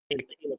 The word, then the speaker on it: Micallef: Micallef with the, by the way, that's how to pronounce Micallef, not, but anyways, yeah.